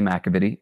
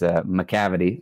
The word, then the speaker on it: McAvity: is mavid uh most people butcher the pronunciation of my last name but that's the correct pronunciation H the incorrect pronunciation is macavity like the mystery cat from the musical Cats which I'm I'm sure you